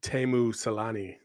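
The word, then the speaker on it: Teemu Selänne: In this movie, they go and they put on the Timu Salani era, you know, early 1990s. It's Timu Salani. Okay. Thank you. Thank you. You put the wrong emphasis on the wrong syllable.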